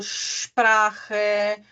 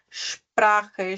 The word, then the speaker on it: Sprache: Ahn, ele tem o som do X, tá? Por exemplo, Sprache, schmutzig. Então, ele tem o som do X, tá? Sprache, schmutzig.